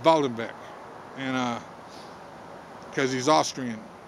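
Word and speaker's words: Waldhandwerk: w-a-l-d-h-a-n-d uh w-e-r-k uh spelled like walled hand work but it's but it's pronounced voldembeck and uh because he's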